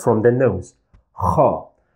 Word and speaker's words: خ: we pronounce it as kha. Kha. It's also a throat sound because the sound comes from the throat.